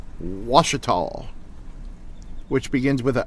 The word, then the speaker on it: Ouachita: And it took me about half a year, but I think I learned to pronounce Ouachita, which begins with an O, by the way.